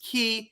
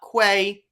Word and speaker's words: quay: The mispronunciation proves she's only read the word but never heard it spoken to her, like not knowing quay is pronounced key and not quay.